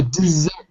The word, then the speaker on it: dessert: word sorry desert desert oh dessert dessert like like like it's got a z in it desert desert and